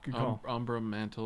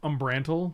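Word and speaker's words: Umbral Mantle: where's your yeah good ombro mantle or whatever that card is it's pronounced umbrantal michael wow that's [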